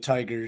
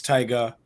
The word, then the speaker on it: Tyga: there Cody oh bro people have been putting hard R's on the end of tiger too and it's it's it's Tyga um it's 20 23 man you gotta you gotta say it right he's uh he's a